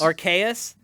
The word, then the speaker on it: Arceus: pokemon legends arceus rks archaius aka that's a hard c believe it or not